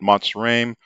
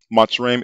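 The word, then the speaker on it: Mitzrayim: map does show that matsuram or mizraim as they choose to call it which is the jewish pronunciation matsurim is south of canaan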